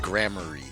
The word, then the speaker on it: Gramarye: something test right now it's pronounced grammary okay all right then